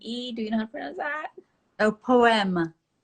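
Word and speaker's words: Poème: do you know Oh poema how I am like a poem but in French yeah it's a gorgeous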